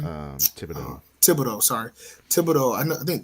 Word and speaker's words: Thibodeau: Theobald, right? No, how you say his last name? Thibodeau.